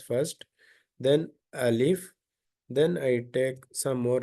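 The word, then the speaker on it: ألف: the exact same spelling if you pronounce it alif that is enough uh by mistake some people may say uh like um Ali if this is wrong Al if this is correct there is no prolongation here by mistake they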